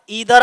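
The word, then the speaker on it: either: यदि दो या दो से अधिक सिंगुलर नाउन कैसे जुड़े हुए और और ईदर और, इसे ईदर पढ़ो या आइदर पढ़ो, इसे नीदर पढ़ो या नाइदर पढ़ो, तुम्हारी मर्जी।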